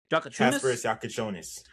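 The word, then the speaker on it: Jakučionis: And Armani, I'm going to let you pronounce the other guy's name cuz I will butcher it completely. Jaka Chones.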